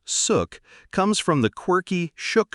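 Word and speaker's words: Xuc: Born in the 1940s, the name suk, pronounced suk, comes from the quirky shook shook sound made by the clarinet in traditional folk music.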